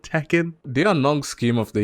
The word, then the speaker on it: Tekken: no no no like no sane person says to Ken like it's Tekken that's all right we're